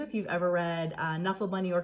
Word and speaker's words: Knuffle Bunny: uh to you if you've ever read uh knuffle bunny or canuffle bunny as it's pronounced and moe was born in illinois on